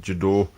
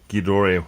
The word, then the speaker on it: Gedore: there's two sets of jador ghidori how you want to pronounce it if you're german if you're not combination